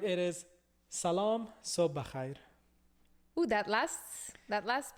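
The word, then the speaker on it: سلام: But all right, it is salam sobh khair. Ooh, that last part. Right? Can you say it again? Sobh khair. Bachait. Bakhair. Salam so bachaim.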